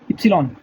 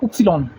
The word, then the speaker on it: Ypsilon: Y का आएगा युप्सिलॉन, इप्सिलॉन, Y इप्सिलॉन, YPSILON, इप्सिलॉन। लिखने में भी ये इप्सिलॉन ही आएगा, बोलने में आएगा उपसिलॉन। लिखने में ये आएगा, बोलने में आएगा उपसिलॉन, OPPSILOHN, उपसिलॉन।